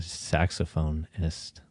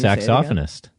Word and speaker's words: saxophonist: that what is that a saxophone-ist not the right the right way to say it is saxophonist saxophonist that is famous